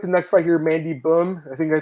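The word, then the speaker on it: Böhm: Got the next fight here, Mandy Bohm. I think I pronounced it right, Marcel? Mandy Bohm.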